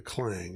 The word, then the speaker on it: Clang: one gang called the Clang. And I I pronounced that because some people hear the clan, and that's not what I'm talking about. They were called the Clang.